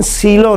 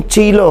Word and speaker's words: cello: तो इसका pronunciation सीलो नहीं है, बल्कि इसका प्रोनाउंसिएशन चीलो है। अब इसका प्रोनाउंसिएशन चीलो क्यों है तो वो थोड़ा सा मैं आपको बता देता हूँ। ये लफ्ज़ दरअसल इटालियन है, तो ये इटालियन से